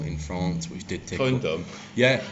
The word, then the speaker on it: Condom: Condom? Yeah, well he pronounced it like Condor. And I was like, oh, like it's like condor or something, isn't it?